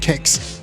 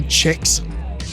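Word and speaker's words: kex: example cakes means biscuit in Swedish and it's pronounced cakes but people here say checks gothenberg is also one of very few Swedish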